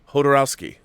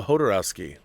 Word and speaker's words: Jodorowsky: His parents were from Europe, but he grew up in Chile and pronounced the J like a Spanish speaker would. Hodorowski. Wow, okay. So it's Alejandro Jodorowsky. See, now I know. Jodorowsky.